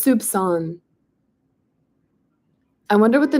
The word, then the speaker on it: soupçon: And every time it has the squiggle, it's a C pronounced like an S. Awesome. Okay, soupçon, a little soupçon of effort.